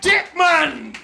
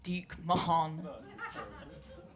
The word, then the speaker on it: Dique-Mahn: Professor Dique-Mann! I think you'll find it's pronounced Dique-Mahn.